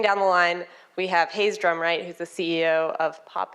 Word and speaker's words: Hayes Drumwright: to share moving down the line we have Hayes Drumright who's the CEO of pop in is that how you pronounce the name in the company excellent that's